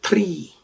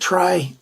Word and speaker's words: Tri: this is the schnitzel tree i know when i did the unboxing called it try but in the esperanto language it is at least that's what the pronunciation guides say we've got a kydex